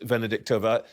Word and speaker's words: Venediktova: Venediktova.